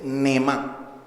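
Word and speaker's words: נאמן: ¿Cómo se dice la expresión fiel? Te dice Neemán.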